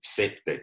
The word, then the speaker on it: CPTED: Y también es importante saber que en el mundo de la seguridad y también los arquitectos urbanistas, todos dicen CEPTED, o sea, se pronuncia CEPTED.